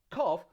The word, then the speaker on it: cough: word like for example when you have gh at the end of a word and this produces a sound normally that sound is like the letter f like when you say